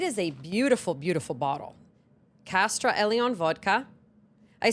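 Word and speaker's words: Kastra: Ladies and gentlemen, my new sponsor for the month of August, Castra Eleon vodka.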